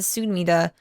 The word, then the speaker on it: Sumida: Sudama River. Is it Sumida? I think it's Sumida. I think I keep mispronouncing it. It's the Sumida River.